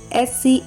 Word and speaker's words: scissors: You know C is often silent in the SC combination. Examples: SCISSORS, scissors, scent, muscle, crescent, fascinate, scene, disciple, ascent, descent, science, conscious, crescent, fasces, muscle, discipline.